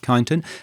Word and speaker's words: Kyneton: Excuse me if I pronounce that wrong. No, is it that's right. Kyneton.